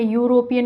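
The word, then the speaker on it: European: आप सोच लीजिए, इसमें यूरोपियन को किस तरीके से प्रोनाउंस करेंगे हम, यू से बनेगा, यूरोपियन हो जाएगा। ठीक है, यू वर्ड निकल रहा है इसमें। और ये क्या है, एक कॉन्सोनेंट साउंड है और कॉन्सोनेंट साउंड के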